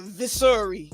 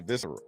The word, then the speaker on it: visceral: That nigga said a viscery. Let me ask ChatGPT. She said it wrong. With that viscery. That's a visceral.